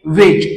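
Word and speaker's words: wedge: जो एक्झाम्पल आहे ते म्हणजे वेज आणि वेज या शब्दाच वाचन करना वे ज अशा प्रकारे वाचन करायच आहे आणि याचा जोडी आहे तो सायलेंट ठेवायचा आहे लक्षात घ्या तर अशाप्रकारे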